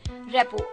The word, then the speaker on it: rapport: तो चलिए, वैसे हो सकता है आप में से कई लोग ना जानते हो, रेपो में आरटी मतलब साइलेंट रहता है. रेपो, R-A-P-P-O-R-T, रेपो.